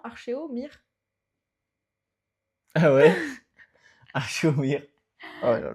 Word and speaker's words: Archéomire: Archémoire, je l'avais bien prononcé d'abord. Bah oui. Mais non, Archéomire.